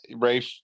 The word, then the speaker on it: Rafe: And today, Rafe Judkins, who's the showrunner for the show, he did It's Rafe. Is that how you say it? I don't know. Yeah, I mean, Rafe, R-A-F-E.